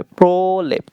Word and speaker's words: প্রলেপ: প্রলেপ প্রলেপ, অকার উচ্চারণ করতে হবে, প্রলেপ।